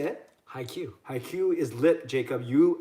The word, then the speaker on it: haiku: high Q.